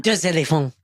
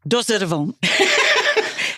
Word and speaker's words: Deux éléphants: Am I saying that right, Melissa? Deux éléphants. Deux éléphants. Oh, I got to say it like a French person. No. One elephant, deux elephants. Exactly. That's it. Just think, ooh la la, while you're saying it. It'll come out.